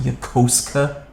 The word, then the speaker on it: Yokosuka: Do you guys know it's pronounced Yokosuka? I do now.